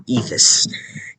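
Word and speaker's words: Áed: This is the second son of Kenneth McAlpin, whose name is Aed, or Ethis. Ethis is how they say it here. It's Aed in Scottish, or in English, basically.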